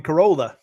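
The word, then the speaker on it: Corolla: native test really like there's a corala North Carolina which is spelled like Cora so that's how they know when people are are not from from town they're like we're going to Corola we'll take them Spirits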